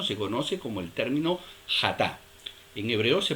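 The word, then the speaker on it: חטא: Un término se conoce como el término hatá. En hebreo se pronuncia hatá, y la mayoría de todas las faltas registradas y traducidas como pecado en el Antiguo Testamento son hatá.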